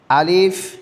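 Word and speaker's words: ألف: আমি চারটা আলিফ লিখলাম আলিফ লিখতে তো সবাই পারে কি পারে না পারে আমি চারটা আলিফ লিখলাম পাশাপাশি আলিফের উচ্চারণটা আমি সুন্দরভাবে শিখলাম আলিফ আলিফ পর্যাপ্ত পরিমাণে বাতাস বের হবে আলিফ আলিফ আলিফ আলিফ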